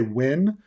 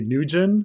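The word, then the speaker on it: Nguyen: pretty common you know do you just say win or do you say nugen which i've i know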